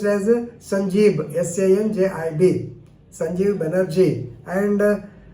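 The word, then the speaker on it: Sanjib: meghalaya and Elijah chief justice but they are pronounced as sanjeeb s-a-n-j-i-b Sanjeev Banerjee and w d w dingdo d i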